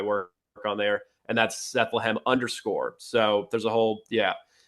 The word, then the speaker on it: Sethlehem: So if you want to find my That's where I'm most active is on X, and that's under Sethlehem, which rhymes with Bethlehem.